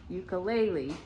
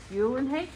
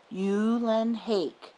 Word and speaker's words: Eulenhake: My last name is pronounced Eulenhake. Eulenhake rhymes with rake.